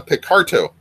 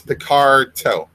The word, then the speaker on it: Picarto: tonight journey is on picarto and because I see people spelling picarto wrong all the time it's spelled with a t not not a d it's not like John Luke Picard it's picardo um anyways so um cat